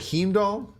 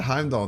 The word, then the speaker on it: Heimdall: games I was watching another stream where earlier pronounced that heme doll I I got Heimdall down dude someone's talking about